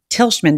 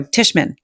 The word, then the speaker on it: Tishman: welcome you to tilschmann did i say that right no tishman right did i say that